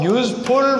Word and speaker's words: useful: Out of so many notes, a useful work. Useful. U-S-E-F-U-L, W-O-R-K. Useful work. This begins with a vowel letter, but it is pronounced with a consonant sound.